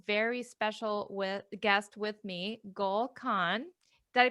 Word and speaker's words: Gull Khan: And today I have a very special guest with me, Gull Khan. Did I pronounce that right? Gull Khan?